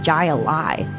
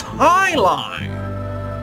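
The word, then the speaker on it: jai alai: against the bellows bloodhounds what the heck is jay a lie it's pronounced high highline what the heck is highlight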